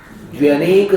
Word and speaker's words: द्व्यनेक: एक प्रथम अध्याय में गया श्रुतम मति पूर्वम द्व्यनेक द्वादश भेदम, ये उच्चारण बहुत जरूरी है शुद्ध करना। द्व्य, द, व्य, व और य, द्व्य, द्व्यनेक द्वादश गुण, द्व्यधिकादि गुणानाम तु।